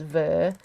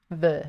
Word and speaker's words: fy: Okay, so the next word is ver, which basically means of my. It's hard to write things phonetically sometimes, but it's basically ver.